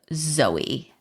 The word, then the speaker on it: Zoe: I hope I pronounced it right. It is You Zoe, did.